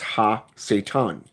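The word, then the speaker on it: הַשָּׂטָן: right for him this in Hebrew ISM is pronounced ha Satan as an H a - Satan okay this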